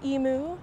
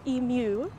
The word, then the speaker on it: Emu: I was quickly told it's not pronounced Emu, it's Emu.